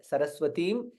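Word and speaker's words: सरस्वतीम्: Saraswatim. Again Dirgha there. Saraswatim. And for in there you again since yellow color, it is not since yellow color.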